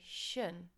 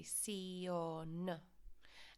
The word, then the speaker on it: televisión: I've highlighted this sion because often students want to pronounce it like the English and say shun. Of course, you need to pronounce every single letter. So sion.